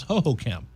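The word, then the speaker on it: Hohokam: I broadcast games there for a long time, and it was ho-ho-cam.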